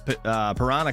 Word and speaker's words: Piranha: I always say Panera. I don't know why I read it like that, but yeah, I said it right this time.